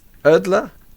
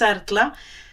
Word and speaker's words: Erla: host Joe burage and with me today is erler Gilda welcome to the podcast thank you J thank you and perfect pronunciation thank you thank you so for our